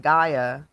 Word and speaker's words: Gaia: Another tool you use is that Gaia.